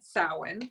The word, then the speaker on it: Samhain: colorway yes I know it's spelled Samhain but it's said sewing for all those people who don't know how to pronounce it and this is what